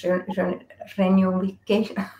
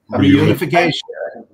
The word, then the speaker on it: reunification: we will makes this renewification. I don't know how to pronounce this word. Renewification. Reunification. Okay.